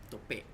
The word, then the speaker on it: Tope: stay faithful with the pronunciation. Mm-hmm. Tope.